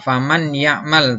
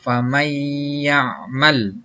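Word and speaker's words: فمن يعمل: Wow uh ya contohnya dibacanya tidak faman ya'mal tapi dibacanya famaiyakmal ya jadi masuk disertai dengan dengung yang kedua idgham bilagunnah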